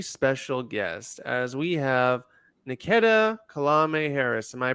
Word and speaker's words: Niketa: have a very special guest as we have niketa kalame Harris am I pronouncing that right Nikita Nikita thank you anyway today you may know Nikita